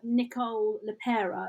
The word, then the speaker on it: Nicole LePera: Nicole LePera is how you say her name, and it's called How to Do the Work.